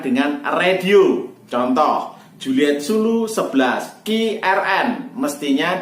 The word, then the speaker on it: Zulu: Huruf Z mestinya diucapkan Zulu, akan tetapi diucapkan Zebra. Contoh, JZ11RZN mestinya diucapkan Juliet Zulu 11 Romeo Zulu November.